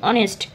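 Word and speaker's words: honest: কিন্তু এটা হর্নেস্ট কিন্তু নয়। এটা কিন্তু অনেস্ট। তো ও এন ই এসটি এটুকুর উচ্চারণ হয়।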